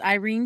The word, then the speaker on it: Yrene: Her name is Irena Towers, Mhm. which I personally love because my friend's name is Irena, my oldest friend. Even though it's spelled different, with a Y versus an I.